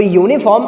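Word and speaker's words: uniform: अब आप यूनिफॉर्म पढ़ के देखो, हालांकि पहला लेटर यू लिखा हुआ है जो कि एक क्या है आपका स्वर है यानी कि वॉबल है, बट जब हम इस शब्द का उच्चारण करते हैं तो यूनिफॉर्म आपका किससे स्टार्ट होता है मालूम है? या से पढ़ा जाता है, यूनिफॉर्म।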